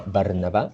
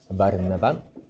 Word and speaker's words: Barnabá: En Jerusalén enviaron a Barnabá, aquí lo está pronunciando en hebreo, Barnabá, que fue hasta Antioquía,